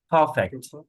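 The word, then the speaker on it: perfect: আমরা এখানে আর এর উচ্চারণ করব না, কারণ আর এর উচ্চারণ মাঝখানে থাকলে আর এর উচ্চারণ হয় না। ঠিক আছে, আর এর উচ্চারণ হয় না। পারফেক্ট, পারফেক্ট, বিশেষ করে যদি আর পরে কনসোনেন্ট থাকে তাহলে পারফেক্ট উচ্চারণটা হবে না।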